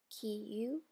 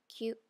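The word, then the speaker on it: きゅ: Kiyu becomes kyu.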